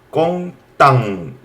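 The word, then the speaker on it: content: 웨어라는 말이고 그 다음에 이거 꽁땅 은이지만 앙으로 읽어요.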